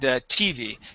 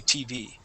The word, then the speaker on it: TV: nice um and then when we say the word uh tv um i believe you had said tv putting the accent on that t um our accent goes on that v we say tv there you go that's